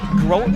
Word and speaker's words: Groton: Hatton Northwood, Sargent County at Sisseton, South Dakota, Groton, is that how you say it? Is that how would you say it, Matt? Yep. Groton.